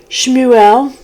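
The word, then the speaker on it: שמואל: Okay, so Samuel is actually, in Hebrew, is Shmuel. And there's a note in here in my Bible about how to actually pronounce it, and I'll get to that in a moment.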